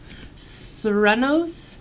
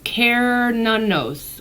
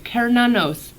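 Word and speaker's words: Cernunnos: week we got I don't know how to pronounce this Serrano's Serrano's look how cool this card is though okay so it says life force all right oh it's pronounced care none knows okay care now knows whatever all right also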